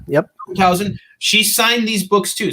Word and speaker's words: Veldhausen: Alexia Veldhausen, who is, did I pronounce the last name correct? Yep, Veldhausen. Yep. Veldhausen.